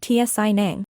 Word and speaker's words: tsivnib: These two oddities, along with the fact that the final consonants aren't sounded, explain why tsivnib is pronounced tsi nang.